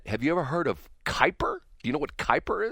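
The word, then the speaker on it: Kuiper: It's spelled K UI P R and they pronounce it Kyper.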